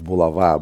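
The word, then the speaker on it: Булава: Well, technically, it's Bulava, but English speakers are too lazy to pronounce it correctly, and nobody knows how to say it.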